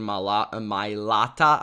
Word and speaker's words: Mailata: is Nick Bosa versus Jordan Mailata, I believe is how you pronounce his name.